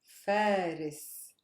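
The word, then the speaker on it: فارس: On fa. Faris, which is a name or which meaning night. Faris. Stress is on fa.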